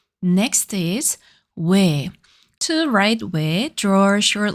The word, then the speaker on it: ㅚ: To pronounce it, round your lips like O, but make her sound similar to a. Repeat after me. We way.